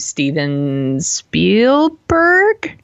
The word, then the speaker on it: Spielberg: Ernest Cline and directed by some dude named Steven Spielberg. Did I pronounce that right?